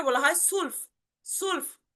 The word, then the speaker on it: zwölf: এবং টুয়েলভ কে বলা হয় সুলফ, সুলফ বা সোলফ। ঠিক আছে, সোলফ। এই যে দেখেন এখানে সর মতো উচ্চারণ আসতেছে, সোলফ, সোলফ, সোলফ।